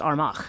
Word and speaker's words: Armagh: But Armagh is not pronounced Armagh.